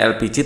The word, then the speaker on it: LPG: kemudian ini gas elpiji Oh ya bacanya elpiji tulisannya LPG ini bacaan bahasa Inggris ya elpiji hai hahaha elpiji